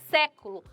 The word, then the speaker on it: século: letra B você acertou a palavra proparoxítona é século século ou a sílaba